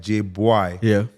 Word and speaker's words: Jbwai: Jbwai is the right pronunciation.